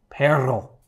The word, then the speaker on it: perro: But pero is dog. And that rolled R. I've had a really difficult time. Okay. Perro. Bore. I tend to roll it too little or too much and it's hard.